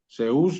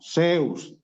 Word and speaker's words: Zeus: Zeús, no, Zeus, sí. Okay. Con acento en la E.